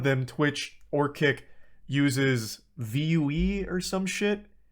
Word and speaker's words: Vue: was a good tweet Bob it's pronounced view uh I thought it was like an acronym or something yeah I don't know